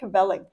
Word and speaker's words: kvelling: Kvelling.